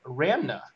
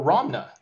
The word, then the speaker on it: Ramna: unit the fire unit ramna or romna how do you pronounce this Roma uh it's either way it's really difficult when